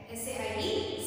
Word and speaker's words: said: S-A-I-D. Said. Remember students, here you know how to speak said. That is correct pronunciation is said.